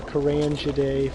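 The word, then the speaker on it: Carangidae: Jack's a member of the Kurangiday family. Way you can remember that is it's spelled with the G, but it makes the J sound.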